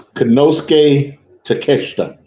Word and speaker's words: Konosuke Takeshita: So if you want to clarify the pronunciation of all that Japanese, you're more than welcome to. It's Konosuke Takeshita.